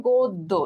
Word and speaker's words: গদ্য: আচ্ছা, মারিয়া মাহি, তোমার হচ্ছে গদ্য যে কমেন্টটা করছো, গদ্য উচ্চারণ এটা সঠিক হয়নি, এটার উচ্চারণ হবে গদ্য, ঠিক আছে, গয়কার দ হস, হ্যাঁ, গদ্য, ঠিক আছে।